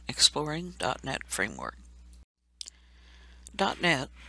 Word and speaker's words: .NET: .NET, pronounced .NET, framework is a platform made to develop applications.